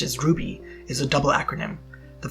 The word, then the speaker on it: RWBY: The title, RWBY, pronounced as RWBY, is a double acronym.